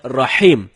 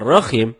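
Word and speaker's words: رحيم: Rohim artinya Maha merdu bacaan yang benar Nyai salah dengan huruf ha ha dalam tenggorokan jadinya Rohim bukan roh Hai kalau temen-temen bacanya rokim itu dapat merubah makna atau arti dari ayat suci Alquran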